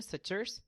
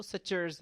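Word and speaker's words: sutures: एक को हम कहते हैं सचर्स। क्या कहते हैं बच्चों? सिचर्स। आपने इसको कुछ और नहीं पढ़ना। इसकी जो सही प्रोनाउंसिएशन है, वह सचर्र्स है।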